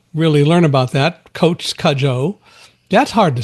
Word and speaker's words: Cudjo: telling me that his last name has been pronounced in so many interesting ways, like of course Kujo, which we all know from the movie and the book, but it is Kajjo.